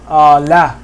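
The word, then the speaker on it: لا: Listen to the way I'm pronouncing the fatha. Like similar to bat or cat or hat. Right. Very similar sounding.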